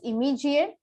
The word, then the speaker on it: immediate: But many Indian speakers and many non-native speakers have a tendency to pronounce the m sound twice, which is wrong. You should not say immediate, or we should not say immediate. It has to be one m, immediate.